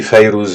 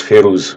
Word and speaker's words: Fairuz: Moi je dis Fayrouz, il y en a qui disent Férouz, mais en arabe, ça se prononce Fayrouz.